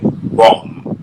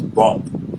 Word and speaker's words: bomb: So if he was supposed to say bomb, and then I thought it was bomb, and I will see that the B is silent.